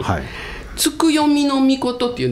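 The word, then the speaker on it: 月読命: 月の神はいつく読みの命って言うんですうん月を読むはい命と書いてつく読みの命って言うんですけどね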